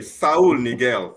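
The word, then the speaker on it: Saúl Ñíguez: Saul Niguel.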